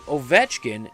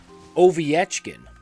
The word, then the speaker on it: Ovechkin: So it wasn't Ovechkin, it was Oviechkin.